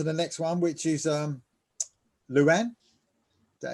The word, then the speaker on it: Luanne: Okay, right, we're moving on to the next one, which is Luanne. Is that how you say it? Is it? Yep, Luanne.